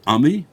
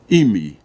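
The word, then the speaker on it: עַמִּי: Shemini says, Nachamu, Nachamu Ami. The ayin can also be read Nachamu, Nachamu Imi. The punctuation, the pronunciation is Ami. However, you can also that's when you put a pasach under the ayin.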